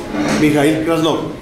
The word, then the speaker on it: Mijaíl Krasnov: Alcalde electo de Tunja, Mijail Krasnov. ¿Sí está bien pronunciado?